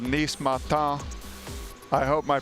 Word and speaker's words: Nice Matin: That's just like this really nice kind of casual French bistro in the Upper West Side called Nice Matin. I hope my pronunciation is right there. Nice Matin.